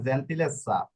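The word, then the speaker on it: gentilezza: এখানে স্বর উচ্চারণ করবে, স্বর উচ্চারণ কেন করবে, double z এই যে এর নিয়ম, জন্য S, নিয়ম অনুযায়ী double z এর জন্য ডাবল S, জেড দেখবে না, লাস্টে আনসা এসা, আনসা এনসা ইসা অসা এসা এগুলা রয়েছে, ঠিক আছে, এই জন্য এটা স্বর উচ্চারণ করবে।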